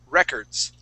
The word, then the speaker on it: records: this word is records with the accent at the very beginning records so it's records records